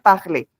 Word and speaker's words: parler: Esta ER al final se pronuncia solamente la E, es lo único. Je vais parler. Es como si la R no existiera.